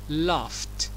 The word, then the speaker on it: laughed: عندي لو منتهي بجي اتش، وهنا الجي اتش بننطقها كساوند ف، ف زي كلمة لاف. في حالة الاي دي هننطقها لافت.